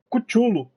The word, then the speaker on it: Cthulhu: O nome correto é Cthulhu. Nada a ver, né? Cthulhu. Cthulhu. Call of. É, Call of Cthulhu. Mano, nada a ver. Cthulhu. É o nome do cão. Isso, Cthulhu.